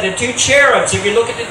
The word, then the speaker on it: cherubs: The cherubs, actually, not cherubs. I say cherubs, that's the English pronunciation, but it's actually in the Hebrew, the CH is pronounced like it's a hard HH, or cherubs.